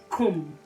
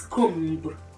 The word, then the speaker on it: come: wrongly, is the word come. The word come. A lot of us pronounce this word as comb. Comb.